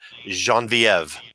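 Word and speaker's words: Geneviève: was from her that i learned how to pronounce the name jean-viv okay that's like my favorite name but i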